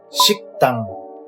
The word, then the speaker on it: 식당: Dining hall would be Shi plus K plus Da plus NG. 식당.